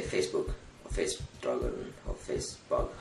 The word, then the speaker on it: Facebook: Hey dude, look at this movie on Facebug. Facebug? That's not the name. It's Facebook. No, it's Facebug. Please guy, say Facebook. Facebug? You say it wrong. It's Facebook, not Facebug.